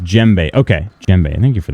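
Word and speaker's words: djembe: It's pronounced jbe.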